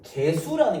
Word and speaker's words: 개수: 그럼 여기서 그 개수라는 게 개수?